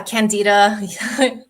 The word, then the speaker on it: Candida: Am I pronouncing that right? Yeah, Candida.